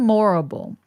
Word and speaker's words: Morrible: see it was moral Madam morrible because it rhymes with horrible and I want to